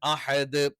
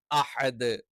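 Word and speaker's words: أحد: വലം യകുലഹു കുഫുവൻ അഹദ് അഹദ് ലാസ്റ്റ് എന്ത് ചെയ്യാൻ പാടില്ല പെട്ടെന്ന് സ്റ്റോപ്പ് ചെയ്യാൻ പാടില്ല അഹദ് എന്ന് പറഞ്ഞു നിർത്താൻ പാടില്ല വ്യക്തമായി തന്നെ എന്ത് പറയണം അഹദ് എന്ന് തന്നെ പറയണം അപ്പൊ ഒന്നുകൂടി നമുക്ക് എന്ത്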